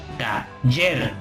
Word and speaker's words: taller: Taller. Yer es la sílaba que tiene acento prosódico porque es la sílaba donde recae más la fuerza de la palabra.